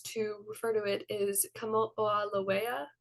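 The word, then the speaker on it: Kamoʻoalewa: They labeled it 469219, but the more common name that astronomers use to refer to it is Kamo'olawea, I believe is the correct way to pronounce it, which is a Hawaiian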